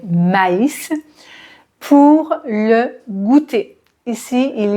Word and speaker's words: maïs: l'infinitif du ma is ici tréma sur le i pour bien différencier la prononciation pour ne pas dire mais mais maïs pour le goûter ici